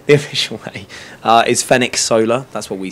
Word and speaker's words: Fenech Soler: the official way, the official way uh is Fen Solar.